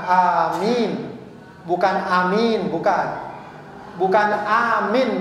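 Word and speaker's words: آمين: Ada panjang pendeknya. Yang benar ya panjang, amin.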